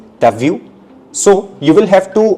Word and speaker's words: t'as vu: Tu as vu. This will be pronounced as t'as vu.